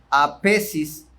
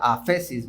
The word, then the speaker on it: aphesis: La palabra perdón se traduce la palabra griega aphesis. Quiero pensar que se pronuncia aphesis, ¿verdad?